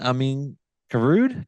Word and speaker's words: Amine Karaoud: uh not too long ago please welcome in Amin garud co-founder of Old Louisville whiskey thank you thank